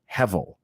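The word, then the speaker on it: הֶבֶל: other translations the Hebrew word behind it is pronounced hevel and it's actually the same word where able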